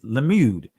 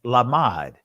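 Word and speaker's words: לָמֶד: learn and it is israeli pronunciation of it is lemud but actually in the ancient pronunciation is lamad that's the primitive root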